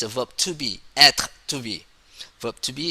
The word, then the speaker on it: être: So être. Être. This is a verb to be. Être, to be.